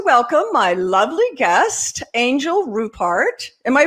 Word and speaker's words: Rupert: would like to welcome my lovely guest angel rupart am i pronouncing it is it rupert yes rupert and she is an angel i love her